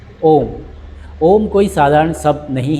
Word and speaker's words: ॐ: जब आप ओम बोलते हैं, ओम का उच्चारण करते हैं, तो एक ही वाइब्रेशन हमारी पेट में होती है। यू का वाइब्रेशन चेस्ट में होता है एंड म का जो वाइब्रेशन होता है, वह हमारे गले से निकलता है।